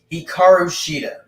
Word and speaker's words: Hikaru Shida: So it's pronounced Hikaru Shida. I just said that. I thought it was hard to pronounce, but well. Now what the hell? Yeah. All right. Hikaru Shida against Thunder Rosa for the AEW Women's World Championship.